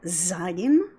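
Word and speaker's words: Zayin: one is the letter Zion and this makes a Z sound z as in zone and not much to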